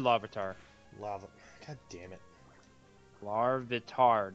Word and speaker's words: Larvitar: Larvitar, not Lavatar.